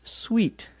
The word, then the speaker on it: suite: Paul in Belgium just wants to know how to pronounce the word that is spelled S-U-I-T-E. And that is pronounced sweet, just like S-W-E-E-T.